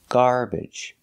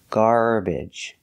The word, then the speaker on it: garbage: see a schah sound the schah sound is an unstressed uh uh like cup and up so we can make that sound garbage but you can also pronounce it with the short e like eggs and bed garbage garbage because it's not stressed and the third correct pronunciation is IG IG using the short I like this is milk I go garbage garbage so three pronunciations